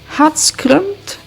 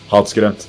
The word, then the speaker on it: Hatskrømt: So, your band has a particular name because I'm not able to pronounce myself but I just I will try right now. Hot scrunt. That's really good. Hot scrunt.